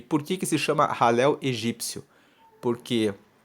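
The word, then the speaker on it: Hallel: grupo do alel egípcio alel se escreve h a l l e l se pronuncia halel egípcio que esse ralel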